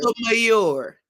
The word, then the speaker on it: Sotomayor: If you want to say it like a Sonia good person, Sotomayor.